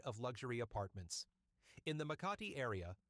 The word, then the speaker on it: Makati: Number 10, the dark side of luxury apartments in the Makati area. sometimes mispronounced as Marty by tourists.